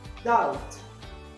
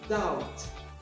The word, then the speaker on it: doubt: we don't pronounce h doubt doubt without beef castle castle without tea